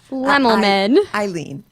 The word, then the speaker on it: Lemmelman: I think of lemons when I say her last name. Eileen Lemmelman.